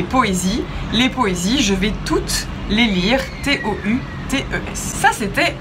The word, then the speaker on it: toute: C'est une femme, donc le sujet est féminin, il s'accorde, elle est toute fière, T-O-U-T-E, prononcé toute. Mais elle est toute étonnée. Le mot étonné commence par une voyelle, tout étonné s'écrit donc